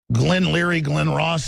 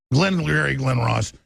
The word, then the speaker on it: Glengarry Glen Ross: girion government it's like in Glen Leary Glen Ross is that I pronounce it's a great movie I'm going from Glengarry Glen Ross teleprompter free and then